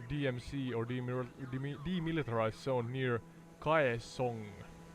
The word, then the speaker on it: Kaesong: or demilitarized zone near Kaesong. I'm not sure how to pronounce that. Kaesong. I think it's pronounced like Kaesong.